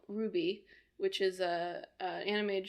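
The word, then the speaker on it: RWBY: I sort of half follow this show called Ruby which is a an animated show from Rooster Teeth um is that how you pronounce it yes Ruby I've just been thinking in my head all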